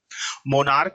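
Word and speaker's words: monarch: मोनार्क लिखा है बेटा, है ना, मोनार्क है, तो मोनार्क को जब हम पढ़ेंगे तो लास्ट में सी एच लिखा है, इसका उच्चारण क निकल रहा है, तो इसमें भी एस लगा देंगे।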